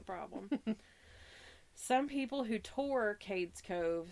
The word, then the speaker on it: Cades Cove: I'm gonna talk about Katie's Cove that is how you say that right I've always heard it said Cades Cove Cades Cove yeah all